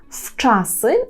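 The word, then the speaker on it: wczasy: таке слово як час в часи Зверніть увагу що пишемо на початку букву в Так але вимовляємо її як ф в часи вчасно це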